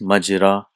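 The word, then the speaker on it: مجرى: So but it is pronounced as majra, from jara yajri.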